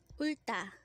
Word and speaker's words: 울다: Ulta.